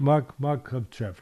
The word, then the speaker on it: Makhachev: I thought that Makhachev, am I pronouncing it right? Makhachev, right? Makhachev. Makhachev, that's right.